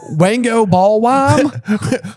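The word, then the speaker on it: Wangoballwime: Wango ballwam.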